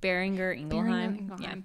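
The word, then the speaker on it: Boehringer Ingelheim: you say that again it's bearinger engelheim it's German yeah it's and I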